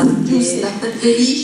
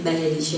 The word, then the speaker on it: Belice: La pronuncia giusta. Belice, perché la per tanti giusta. anni si è sentito del Belice, no?